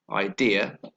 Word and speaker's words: idea: first the word idea the stress is on the second syllable idea and idea starts with